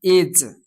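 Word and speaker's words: edge: के अंत में आए तो आमतौर पर ई साइलेंट होता है। जैसे कि एज, एज वर्ड बोलने पर ई जो है साउंड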